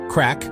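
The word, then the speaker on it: craic: Crack, pronounced crack, is a uniquely Irish term for fun, conversation, good times.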